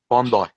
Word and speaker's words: Bondi: Bondi, not Bundy.